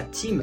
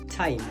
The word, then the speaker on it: time: Par exemple, avec ce mot que vous connaissez tous, on va pas dire ça team, mais on va dire ça time.